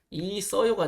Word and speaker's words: 있어요: 발음으로는 있어요가 돼야 됩니다. 있어요. 있어요. 네.